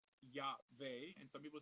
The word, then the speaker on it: Yahweh: So the Vav is also pronounced as a Wah. So some people say Yahweh and some people say Yahweh.